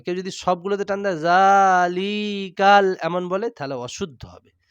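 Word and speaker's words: ذٰلِكَ: কেউ যদি সবগুলোতে টান দেয় জালিকাল এমন বলে তাহলে অশুদ্ধ হবে। শুদ্ধটা কি হবে? জালিকা। তাহলে যখন কোরআন মাজিদের সূরা বাকারার প্রথম শব্দে কি রয়েছে?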